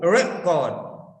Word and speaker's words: record: have recorded everything so stress for a noun stress is here on raw and for verb stress is on ka so see here stress is on ka for verb so it's shifting so you